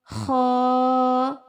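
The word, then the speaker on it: خ: And this is Kha. Kha. Read it with me. Kha. with scratchy sound.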